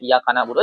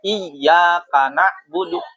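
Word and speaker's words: إياك نعبد: Kemudian si muridnya salah bacanya yang harusnya semisal iyaka pakai tasdid kata muridnya iyaka nabudu. Jangan gitu harusnya gini iyaka nabudu yanya ditasdid itu boleh.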